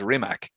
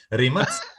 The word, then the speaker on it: Rimac: Of course, everyone is mispronouncing it as Rimac. Yeah. It's not the American version. It's the we pronounce everything how it's written. So it's Rimac.